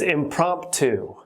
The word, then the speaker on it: impromptu: two impromptu impromptu and you'll notice the second p is not pronounced that second p when